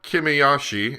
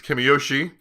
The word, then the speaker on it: Kimiyoshi: And I've also been told that his name is not Kimiyashi, it is Kimiyoshi, and that I've been saying it wrong.